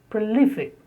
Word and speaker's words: prolific: The next, 84, prolific. He is a prolific writer, stress on L, prolific.